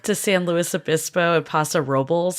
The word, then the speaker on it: Paso Robles: I just did a trip to San Luis Obispo and Paso Robles. I've learned that's how you pronounce it. Not Robles, which is what I and everyone else calls it.